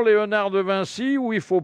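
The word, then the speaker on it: Léonard de Vinci: françaises avec l'exposition de on peut dire encore Léonard de Vincy ou il faut prononcer autrement il faut non il faut dire Léonard de Vincy bon alors c'est un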